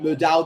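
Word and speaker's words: Mudau: Kiso Mudal. That's how you pronounce his name.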